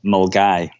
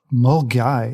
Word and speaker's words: Milngavie: I'm not going to say it right mil Milan migie and Fort William what is it correct me R we're really yeah we've we've definitely Scottish you here it's actually pronounced mgy mgy yeah looks nothing like that I'm gonna have